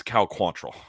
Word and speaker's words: Quantrill: First of all, his name is Cal Quantrill, please.